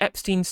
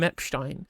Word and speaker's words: Epstein: name incorrectly, calling him Epstein, because that's how it'd be pronounced in using the German pronunciation. It's a German word. It's been anglicised to be to Epstein, right?